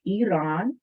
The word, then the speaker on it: Iran: pronounced in the ah i part is not pronounced in either farsi or arabic so it's iran turkey or cyprus that's